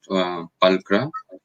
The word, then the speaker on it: Pulchra: So the name, it's a Latin name. It's pronounced as pulchra.